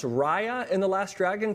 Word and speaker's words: Raya: It's pronounced Raya and the Last Dragon, correct?